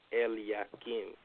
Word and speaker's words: Eliakim: So it's actually pronounced Eliakim.